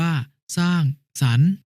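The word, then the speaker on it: สร้างสรรค์: ล่ะ พี่ 9 ก็ พยัญชนะ ที่ เป็น ตัว สะกด และ มี ไม้ ทัณฑฆาต กำกับ อยู่ จะ ไม่ อ่าน ออก เสียง ให้ อ่าน ออก เสียง อัน ตาม เดิม เช่น คำ ว่า สร้าง สรรค์ อ่าน ว่า สร้าง สรรค์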